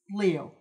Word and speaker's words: Liou: Louis Liou.